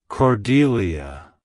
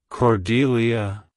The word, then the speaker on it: Cordelia: It's pronounced as Cordelia. Cordelia. Cordelia. To pronounce it correctly, emphasize the second syllable and pronounce the DE as in C.